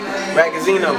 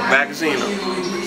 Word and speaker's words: Ragazino: Yo, before we get started, how you pronounce the last name? It's Ragazino. Ragazino.